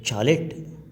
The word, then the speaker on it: chalet: honeymoon we rented a chalet that is a small cottage pronounced as sh instead of staying in